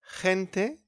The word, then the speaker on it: gente: We got as well gente, gente, people, and geografía, geografía. Common mistake, don't pronounce like G in here. Don't say gente or geografía.